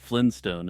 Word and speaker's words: Flintstone: just a misheard name I would argue that Flynn stone is a perfectly acceptable way to pronounce Flintstone and that many people do it unknowingly while speaking fast and casually Tupac Shakur is alive